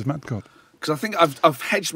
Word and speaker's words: Metgod: first of all, Holland is not exotic at all. And if you just see Metgod, It's Metgod. it's Metgod.